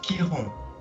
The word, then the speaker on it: Chiron: Alors, ça s'écrit Chiron, mais ça se prononce Chiron.